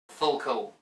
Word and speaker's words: FLCL: me to today's topic full cool i pronounce it this way because it reminds me of the swedish word for cheap beer cheap swedish beer but anyway